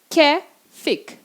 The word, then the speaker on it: Käfig: Ou a palavra käfig. Käfig. Essa palavra tem duas pronúncias, pode ser tanto käfig como käfig. Mas, por enquanto, vamos ficar com käfig e esse A-Umlaut tem som de é.